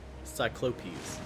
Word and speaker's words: Cyclopes: cyclopses. I think it's pronounced like Yeah. Cyclopi or something. Cycl Cyclopes. That's how my audio book pronounces it. Cyclopes.